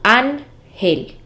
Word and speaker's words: ángel: Por ejemplo, la palabra ángel es una palabra grave porque tiene el acento en la penúltima sílaba que es an, ángel.